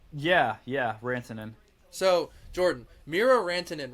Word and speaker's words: Rantanen: Yeah, Rantanen.